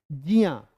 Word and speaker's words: ज्ञ: और ध्यान रखना है, ज्ञान वाले ज्ञा का सही उच्चारण है जिया। ठीक है, जिया, और इसलिए ज्ञान को कह सकते हैं जियान।